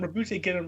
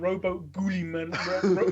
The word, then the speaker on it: Guilliman: Because let's be honest, Rabute Gilliman's got about like 6 different pronunciations. It's like Rabute Gilliman, Robo Gulliman, Robert Gurleyman, Robo Gangrene, As someone who studies